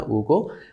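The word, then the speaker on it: Hugo: French রাইটার্সের মধ্যে আছেন novelist Alexander Dumas, Victor উগো, French pronunciation maybe হুগো হবে না, উগো, এমিল কোলা, আর ইংলিশে আমরা জোলা পড়তে পারি, বেলজাক।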